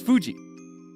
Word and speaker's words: Fuji: Likewise, the correct pronunciation for Fuji is Fuji, as in Mount Fuji.